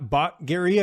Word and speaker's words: Batgerel: So you're taking on Danaa Batgerel, I believe that's how you say it. What do you know about him? How do you feel like you match up against him in this fight? Yeah, Batgerel.